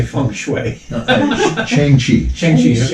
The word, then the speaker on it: Shang-Chi: Shang-Chi. Shang-Chi. Shang-Chi. It's another one of those two syllable Yes.